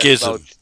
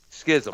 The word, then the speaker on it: Schism: Well, it's spelled Schism. Schism. Schism.